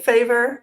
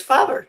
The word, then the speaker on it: Faber: correct didn't I so we we've been saying favor and we've been saying it wrong all the time because when we went to Austria we discovered it is father so you're actually correct